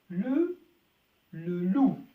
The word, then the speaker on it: loup: كلمة ثالثة le loup le loup. حرف البي لا ينطق في الأخير وذئب le loup.